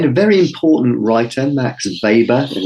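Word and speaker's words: Weber: theory uh then a very important writer Max vber and it's pronounced vber it's spelled we b r but it's pronounced VOR because he's of German extraction he suggested that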